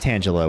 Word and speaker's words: Tangela: And yes, it is pronounced Tangela with the Leaf Energy type Reverse Holo pattern.